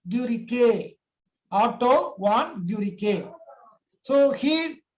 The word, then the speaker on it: Guericke: Okay, so okay, not Guerick, they spell it as Guericke.